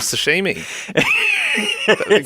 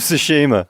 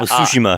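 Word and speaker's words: Tsushima: ghost of Sashimi not ghost of Sashimi what's the game called in Ghost of sushima okay well I was pretty close to be fair suima if you want to pronounce it bit better okay well no one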